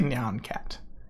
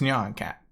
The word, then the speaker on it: Nyan Cat: Worlds Nyan Cat or how do you pronounce neon I always say neon cat yeah or Nyan Cat I think it's Nyan Cat no you know because it's like nah so it's Nan Nyan Cat um that's